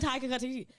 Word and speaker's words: Taika Waititi: I think I said Taika Waititi. It's Taika Waititi. YTT. That's what I said. No. The emphasis is on Y. Taika Waititi.